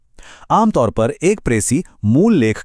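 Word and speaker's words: précis: प्रेसी इसका सही उच्चारण है प्रेसी।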